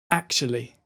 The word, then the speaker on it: actually: It's ak, sh, li. And the final two syllables are really close together. So it's shli, and altogether, actually.